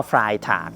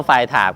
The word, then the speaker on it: Freitag: สะพาย ข้าง ขนาด เล็ก ยี่ห้อ ไฟล์ ถาด นะ ครับ ไม่ ใช่ ไม่ ใช่ ยี่ห้อ ไฟ ถาด แบบ เรียน แบบ ทรง ฟาย ถาก อ่ะ เออ ออก เสียง ถูก มั้ย อี แบน เนี้ย ปี